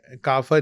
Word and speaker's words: کافر: بھی شاعر نے تو پھر وہ آپ نے کافر ہی پڑھنا ہے. تو وہ پھر آپ کو یہ اچھا پھر وہ ہے بھی کہ عربی کا لفظ ہے تو وہ اس کا تلفظ عربی میں کافر ہی ہے.